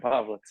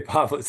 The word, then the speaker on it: Povlitz: The first one was right, Povlitz. Okay, Povlitz.